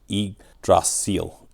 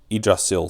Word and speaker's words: Yggdrasil: So the way to pronounce this is eidrasil. Idrasil. So that's the way to pronounce it. So it's like an i instead of a y in that pronunciation.